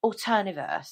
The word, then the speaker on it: Alterniverse: oh I can never pronounce this one Marvel alterniverse is that how you pronounce it say alterniverse alter yeah did I pronounce that okay good